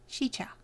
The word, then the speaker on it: Sica: Sica. Alright. When the first Native Americans visited the area, they named it Sica, meaning evil or bad.